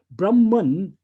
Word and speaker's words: Brahman: a a masculine noun brahman with a ending with an n a short a and an n that is an impersonal noun so brahman means that